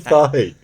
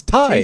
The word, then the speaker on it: Thai: Thigh. Thai food. Thigh. What? Thigh. Thai. It's not thigh. It's Thai. TH.